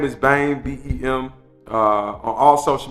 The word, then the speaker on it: Bem: say my information so uh my name is bane b-e-m uh on all social media platforms is